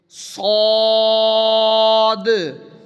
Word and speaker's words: صاد: پڑھیں گے صاد۔ اچھا، صاد پڑھتے ہوئے ایک تو موٹا کرنا ہے، نمبر 2 لمبا کرنا ہے، نمبر 3 یہ جو آواز آ رہی ہے اس طرح آواز بھی ہم نے نکالنی ہے، ہلکی سی آواز ہو، جیسے قلقلہ کہتے ہیں،